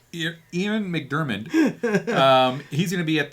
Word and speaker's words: Ian McDiarmid: How'd you pronounce his name? Ian McDiarmid. Ian McDiarmid.